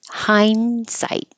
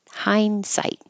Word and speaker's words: hindsight: The N and the D are made in the same place with your tongue tip behind your top teeth. So when I say hind, you don't know, am I going to the N or the D? And you won't hear it.